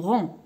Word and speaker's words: rang: بلا ما نطقوا هاد الجي en rang.